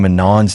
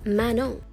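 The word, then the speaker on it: Manon: Pokemon admits she's embarrassed for mispronouncing Manan's name from Katsai this whole time. I am so embarrassed because I only just found out that Manan from Cats's name is actually pronounced Mano.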